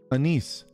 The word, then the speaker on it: Anise: It said like the spice. Anise.